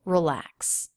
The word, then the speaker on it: relax: Schwa in that first syllable. Relax. Relax. Relax. Relax. Relax. And the letter X makes the KS sounds.